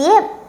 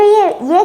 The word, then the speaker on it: Yu: ये भी काफ़ी इंटरेस्टिंग टॉपिक है। बिल्कुल। ये जो चाइनीज़ सिविलाइजेशन थी, इसको फाउंड किया था किंग यू द ग्रेट ने। YU, ये थोड़ी छोटी प्रोनाउंसिएशन है।